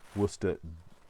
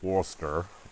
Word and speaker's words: Worcester: been wusted so here's worcester by the way worcester w double o s t e r not as in the um city of worcester although um worster is usually how it's pronounced by people who